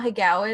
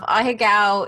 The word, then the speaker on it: ahegao: I may be pronouncing it wrong, but it's like AHEAGO, I think.